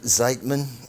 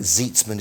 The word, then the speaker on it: Zeidman: name's Liz Ann is Siteman Zeidman some people say Siteman some people say but I think Zeitz Minh is the proper pronunciation now she is with